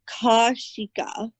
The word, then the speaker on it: Kaushika: It's like Kashika. I like the pronunciation. Kashika. It's Kaushika. Kashika sounds right?